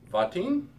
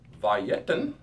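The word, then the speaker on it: וַיִּתֵּן: Now notice how I changed the pronunciation of the first word. And he gave silver, gam, also to me. All right. There was not a schwa there.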